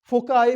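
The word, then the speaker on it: foci: एक होता है फोकी, इसको कई बार फोकाई भी पढ़ते हैं, फोसी भी पढ़ते हैं, फोकी भी पढ़ते हैं, सब सही है। इसके 3-4 प्रोनाउंसिएशन है, इंग्लिश का अलग, अमेरिकन का अलग, लैटिन का अलग, ठीक है।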